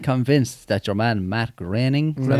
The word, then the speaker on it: Groening: people out there that are actually 100% convinced that your man Matt Groening, is that how he said it? Groaning, is it? Or It's spelled groaning, but I've heard people say graining, Oh, whatever.